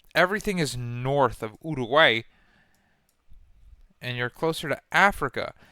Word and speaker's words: Uruguay: Now, hold on, not American. British. Uruguay. Wait. Spanish? Uruguay. Uruguay. Uruguay. Okay. That's how you pronounce the name. Uruguay.